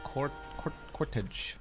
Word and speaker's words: cortege: It's totally possible for a cortege to rhyme with protege. They look exactly the same.